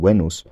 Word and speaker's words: Venus: ironic thing is that this ends up sounding more like the actual classical Latin pronunciation wenos than it does like the Modern English loan pronunciation Venus because the Venus pronunciation is filtered through a load of sound changes that happened in the romance languages and English after the classical Latin period as far as Roman